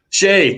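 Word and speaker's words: Skjei: his name um i can't even do it shea thank you jeez yeah brady shay um underrated hard-nosed defenseman um i don't know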